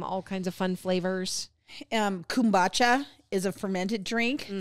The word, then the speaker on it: kombucha: Kombucha is a fermented drink.